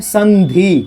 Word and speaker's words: संधि: इसीलिए इसका उच्चारण अनुस्वार का उच्चारण किस में होता है? न में होता है। तो इसको हम लोग क्या पढ़ते हैं? संधि।